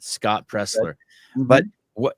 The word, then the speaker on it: Presler: his uh page the guy's name is Pressler there was an l and I didn't pronounce the L in it Scott presler but what it's um